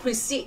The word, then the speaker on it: precede: Đó, precede, nhấn âm 2, còn lại nhấn âm 1.